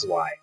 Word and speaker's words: zwei: And they would like me to know that I am pronouncing the Y wrong, because it's actually pronounced Zwei.